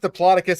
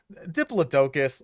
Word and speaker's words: Diplodocus: You've pronounced Diplocus and Diplodocus. Diplodocus.